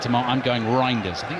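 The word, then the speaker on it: Reijnders: It's a tricky one cuz he sort of says Rinders, doesn't he properly uh in Dutch, so I'm I can't do it quite as authentically as that.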